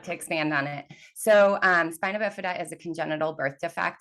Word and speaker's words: spina bifida: Hey, if you could, I could use an education on the condition of spina bifida.